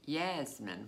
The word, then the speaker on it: Yasmin: I used to use the nickname Yasmin which is the Middle Eastern pronunciation for Jasmine yes and I've actually